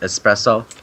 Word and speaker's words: espresso: pretty much means nothing it's pronounced espresso with an S not an X yeah it's pretty strange